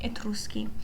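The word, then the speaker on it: Etruschi: Uh we will only be talking about the etruski. I will be using the Italian pronunciation here.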